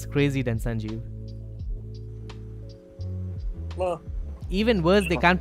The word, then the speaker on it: Sanjiv: I just don't say anything, and I remember some people can't even pronounce my name properly. I said once a Sanjib or like Sanjib.